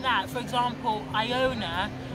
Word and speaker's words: Iona: I know somebody called Iona, so with names like that, for example, Iona is pronounced I, you pronounce the I as an I, whereas because this is an Igbo name, the I is actually pronounced as a E.